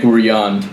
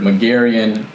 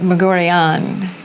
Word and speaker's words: Meguerian: go with everything so the uh the correct way is Muran but I've heard mcaren um magarian Etc so whatever is most comfortable for you I think mcaren is probably the most common pronunciation I've heard so I'm fine with that one that's very Americanized but Moran it's kind of rolls off the tongue nicer and remind me